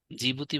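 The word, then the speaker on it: Djibouti: Eritrea সোমেলিয়া আরেকটা হচ্ছে জিবুতি জিবতি বানানটা হচ্ছে এটা ডি দিয়ে শুরু হ্যাঁ এটা একটু মনে রাখবেন জিবুতি তাহলে হর্ন অফ আফ্রিকা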